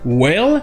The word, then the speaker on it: wail: Donc les Anglais ont tendance à l'écrire comme ils veulent, en particulier comme wail, W-A-I-L, qui est déjà un verbe.